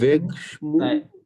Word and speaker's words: hébergement: আমরা the accommodation, veg schmoo, এটা hébergement, the veg schmoo, okay. ইসটা তো সাইলেন্ট, তাহলে শুরু হবে উচ্চারণটা এ থেকে, তাই না?